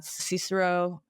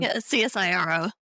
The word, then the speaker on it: CSIRO: States and most jelly had ciso I'm probably not pronouncing it right but Cyro um csiro yeah okay and you